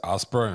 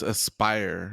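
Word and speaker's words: Aspyr: I think it's Aspera and I don't know how to pronounce their name. Yeah, it's Aspire. Yeah. I don't know who that is. A-S-P-Y-R.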